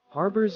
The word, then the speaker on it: harbour: Harbors are designed to provide protection from the open sea and often include facilities for loading, unloading, and repairing vessels. Pronunciation. Pronounce harbor as rhyming with bar and fur.